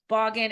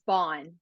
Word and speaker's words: Baughan: and I'm with Caitlin Bogan and Caitlin did I say your last name right because I should have asked before and I didn't that's okay it gets butchered all the time it's Bond Bond we'll see yeah spawn